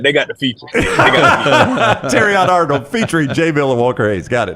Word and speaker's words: Terrion: no no look look you said it wrong tyion Arnold Walker Hayes jaylor mural are